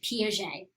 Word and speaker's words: Piaget: And that's how you say his name, Piaget.